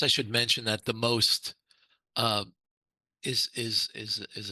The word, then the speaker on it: most: strategy uh but the most actually it should be pronounced the MOs because that's the Czech and Slovak word for bridge is moss um but